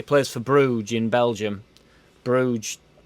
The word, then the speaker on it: Bruges: for bruges in belgium bruges as one silent g i reckon he's from